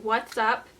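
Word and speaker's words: Wat's Up: Sephora is the Benefit What's Up. It's actually spelled like W-A-T-T, like light bulb watts.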